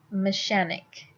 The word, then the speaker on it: mechanic: they wanted to say mechanic, which makes sense because the CH in machines, sh, and then the CH in mechanic, why isn't it pronounced with a sh? It turns into a k, because all of a sudden it's a different word.